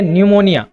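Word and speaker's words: pneumonia: एक बीमारी का नाम है निमोनिया। यहां पर पी साइलेंट होता है।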